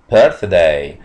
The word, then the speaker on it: birthday: اتفقنا قبل كده ان حرف تي اتش لما بينطق ذا لما بينطق ثا، يبقى هنا هننطقه ثا لان الكلمه بتنطق كده، اسمه بيرث بيرثداي.